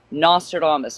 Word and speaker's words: Nostradamus: Nostradamus.